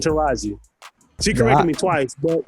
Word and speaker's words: Taraji: I think I'd call her Tajiri. Like I had. Oh wow, yeah, you butchered that now. I called her like 4 different things that wasn't Taraji.